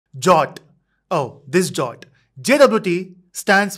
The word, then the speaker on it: JWT: jot oh this jot JWT stands for Json web token in short we call it as jot because it is easier to pronounce so we'll say jot